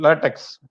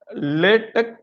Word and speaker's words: LaTeX: Actually, I think the word latex must be pronounced as latex or latex, not as in the rubber.